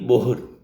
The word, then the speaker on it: Bohr: The third, the scientist name is Niels Bohr. Niels Bohr. B-O-H-R.